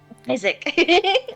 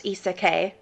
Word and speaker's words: Isaac: When I first knew him for about half a year, he let me pronounce his name as Isekai. Isekai. The little shithead. It's like putting emphasis on the E in isekai.